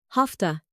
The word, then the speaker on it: have to: How do many native speakers pronounce it? Hafta.